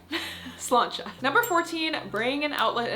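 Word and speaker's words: sláinte: hear people cheers and say slancha, spelled s l a i n t e. Yeah, slancha.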